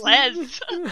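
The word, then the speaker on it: Les Misérables: that's not letter that's letters that aren't pronounced are the two s's at the end of each word yeah so like it there's no reason to call it either Le misera Miserables says Les I just know it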